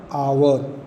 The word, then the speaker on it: hour: Like an engineer lives next door, an apple, an आवर, आवर, HOUR, H consonant माना जाता है, बट यहाँ पर साउंड वॉवेल्स का हो रहा है, एच यहाँ साइलेंट हो गया, इसीलिए यहाँ पर एन आवर लगा है।